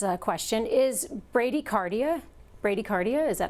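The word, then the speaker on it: bradycardia: Vera McLoud has a question is Brady cardia Brady cardia is that how you say it yes is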